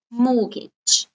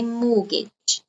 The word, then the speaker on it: mortgage: notice here you don't pronounce sound no it is silent mortgage okay mortgage and next one um this is if uh